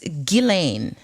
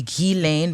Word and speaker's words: Ghislaine: name so it is it's french uh it is gillane elaine with a hard g um i i think if you were really trying to speak it in french it would be ghee lane but i think to saying for our purposes is fine my pronunciation has evolved